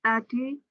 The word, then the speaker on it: student: By 30,696 student candidates. Student. The pronunciation is student. Ya, not standard.